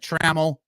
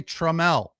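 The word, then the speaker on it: Trammell: inning and then treml why isn't it traml it's spelled just like traml Allan traml but they say treml annoying uh nothing going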